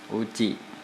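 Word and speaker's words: うち: มา อุ จิ อ อุจิ ออก เสียง ว่า อุจิ นะ ครับ แปล ว่า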